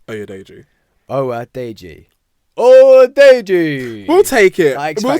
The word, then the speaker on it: Oyedeji: Oyedeji. Oyedeji. We'll take it. We'll take it. I've always said Adeji.